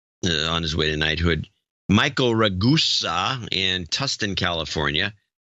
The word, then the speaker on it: Ragusa: Michael Ragusa in Tustin, California. His name is pronounced like Vegas. Vegas.